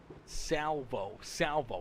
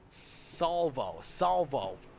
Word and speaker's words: Salvo: Custom Diecast Design says Salvo. I've been saying it wrong for weeks, and Shenco, you're finally letting me know. Salvo.